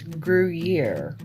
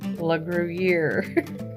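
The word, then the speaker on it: Gruyère: Okay, Michelle, it's Gruyere. Gruyere, la Gruyere.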